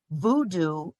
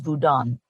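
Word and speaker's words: Vodou: confuse hudo with voodoo voodoo is actually an incorrect pronunciation of the Haitian religion which is vodan um and hudo is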